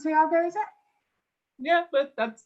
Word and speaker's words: Tiago: So it is pronounced Tiago, is it?